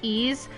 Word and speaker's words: Ys: Of Wise? Like the game series Wise? I'm pretty sure that's how you say it. Because, in Origins, they actually do say the name, and it's Ease.